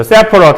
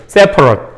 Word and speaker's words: separate: separate 하면은 이제 동사로 쓰일 때는 이렇게 발음하고요. 형용사로 쓰일 때는 이렇게 발음합니다. 그래서 separate 하면은 분리된 이런 뜻이죠. separate 하면 분리된, separate 하면 분리시키다, 그죠?